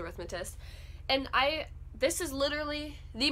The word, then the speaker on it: Rhythmatist: I got one of my favorite books ever, which is The Rhythmist by Brandon Sanderson. The Rhythmatist. I always say it wrong, it's The Rhythmatist.